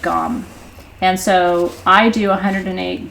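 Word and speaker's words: Gam: it's pronounced gone and so I do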